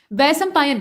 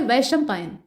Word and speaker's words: वैशंपायन: बोला गया वैसं पायन जबकि होता है वैशंपायन श को हम लोग बड़े वाले श की तरह से यानी तालव्य श की तरह से उच्चारण करते हैं यानी हमारी जीभ जब इसका उच्चारण हम करते हैं तो हमारे तालू से जाकर लगती है ना कि मूर्धा से और यहां पर